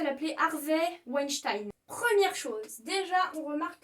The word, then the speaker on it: Weinstein: comme pour Keira Knightley, en fait le E et le I ici vont se prononcer I. Du coup il s'appelle Harvey Weinstein.